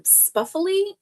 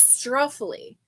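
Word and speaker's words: struffoli: it are the um spuffly um spuffly. I think that that's how you say it. Let me see. It is a an Italian cookie. Let me see. Okay, it's not Spuffly, it's Struffly.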